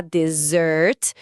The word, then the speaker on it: dessert: É, porque no momento de justificar a falta da sobremesa, a pronúncia da aluna quase escorregou da dessert, com a sílaba tônica forte no final, para o desert, o deserto árido de areia.